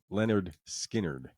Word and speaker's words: Lynyrd Skynyrd: 1973, Lynyrd Skynyrd, pronounced Leonard Skinnard. Lynyrd Skynyrd.